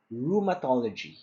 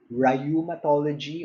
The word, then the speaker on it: rheumatology: Our last word rumology rheumatology it's not rayumatology or reumatology rumatology which is a